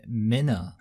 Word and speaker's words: Minna: Minna. Oh, her name is Minna.